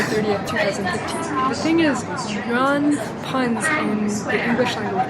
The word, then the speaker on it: yuan: The thing is, yuan puns in the English language media, like one